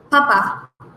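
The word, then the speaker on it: papà: two P's in there Papa with the accent on the last vowel which is the a papa Q which is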